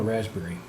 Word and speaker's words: raspberry: i can never spell raspberry i'll just do that see what it comes up with yeah the letter p is silent in there raspberry pi you would